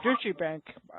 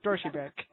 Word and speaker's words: Deutsche Bank: I call it Deutsche Bank, but it's Deutsche Bank.